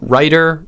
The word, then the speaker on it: writer: flap in both cases the difference between these two words is this diphthong this vowel sound in the first syllable the I and the I vowel sound so you can say that to yourself writer rider rider rider what's changing is the vowel this I sound that